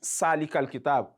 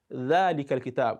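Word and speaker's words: ذلك الكتاب: In fact, you hear people recite salikal kitab. That is wrong. It is dhal, dhalikal kitab, and not zalikal kitab. When you say zalikal kitab, you are pronouncing zai, which is not dhal.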